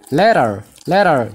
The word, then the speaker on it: later: Garuu yeroo gara pronunciation isheetti dhufnu ishee kana la jennee eegallaa. La jennee gara taalamaan kana gara daatti fudhannee dubbisnaa. Maaliif taalamaan kun dubbachiiftuu lama gidduu waan dhufteef jechuudha.